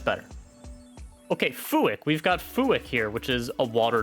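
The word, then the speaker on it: Fuack: Fuick. Fuick. Fuick. Okay, that's better. Okay, Fuick. We've got Fuick here, which is a water duck.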